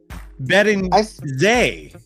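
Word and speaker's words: Beringer: He's French. It's not Joan Chardal. It's according to T. Kubler, it's pronounced Johan Bedenjay.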